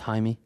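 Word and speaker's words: Jaime: in exchange for Tyler Hero, Khel Wear, uh Jamie Yakez, Haimey. Yeah. What is it? It's Haimey.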